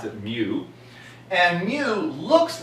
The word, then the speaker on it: mu: the Greek letter mu some people pronounce it move I'll pronounce it mu and mu looks like the letter U but